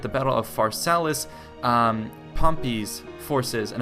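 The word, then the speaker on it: Pompey: Battle of faralis um pompy's forces and I did pronounce it pompy correctly now after you guys had told me how to pronounce it correctly uh pompy's legionaries actually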